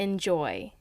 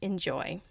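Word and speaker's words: N'Joy: So the way it's spelt is in apostrophe J-O-W, like enjoy. And as I'm saying out loud, I finally get it. It's like enjoy.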